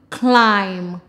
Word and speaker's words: climb: K, I'm, climb. K, I'm, climb. Now remember, when B follows M, the B is silent.